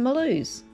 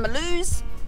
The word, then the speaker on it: Mulhouse: leaving the campground in malus are probably pronounced Milhouse if you're going to say it in English another beautiful day it